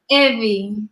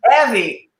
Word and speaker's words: Evvie: So what's the actual correct pronunciation of your name? Evvie. Evvie.